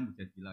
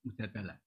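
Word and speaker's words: المجادلة: Makanya di Quran ada surat mujadilah yang benar itu bacanya mujadilah yang level A. Tapi umumnya orang baca apa? Mujadalah.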